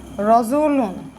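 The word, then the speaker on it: رَجُلٌ: এখানে আমরা যখন উচ্চারণ করি তখন কিন্তু আমরা উচ্চারণ করি রজুলুন।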